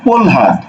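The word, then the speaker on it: প্রহ্লাদ: ঠিক আছে, এটার উচ্চারণ হবে কি? প্রলহাদ, প্রলহাদ। পরফলা ওকার ল, প্রল হয়াকার দ হাত, প্রলহাদ।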